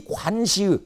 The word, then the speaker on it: 관시: 그러고 있을 때 채찰사 정철이 바로 이 각 관사를 나타낼 때는 절사자를 쓰지만 사라고 읽지 않고 시라고 읽습니다. 이 관시에 소속되어 있는 노비들을 지휘할 수 있는 권한을 주어요. 그래서 복수의병에 이 관시의 노비들까지 포함돼서 병력이 이제 증강이 됩니다.